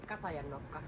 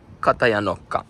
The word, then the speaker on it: Katajanokka: Katajanokka. Katajanokka.